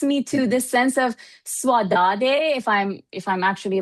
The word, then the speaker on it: saudade: kind of takes me to this sense of saudade. If I'm actually like pronouncing it correctly, I apologize if I'm Saudade, not.